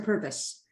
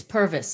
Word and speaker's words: Purves: practice your middle name uh pervs or purpose it's purvis and it's and it's my